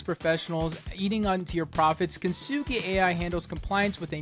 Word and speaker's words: Kintsugi: Enter Kintsugi. Pronounced kintsugi, named after the Japanese art of turning broken pottery into something beautiful and resilient.